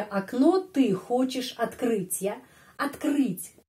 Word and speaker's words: открыть: Открыть. Bagaimana kita membaca kata ini? Открыть. A. Kenapa? Karena penekanannya di sini pada huruf U. Karena itu O dibaca A. Terus открыть.